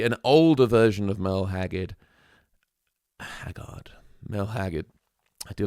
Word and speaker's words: Haggard: But this version is really an older version of Merle Haggard. Merle Haggard. I do like his name as well. Just Haggard sounds like the word Haggard.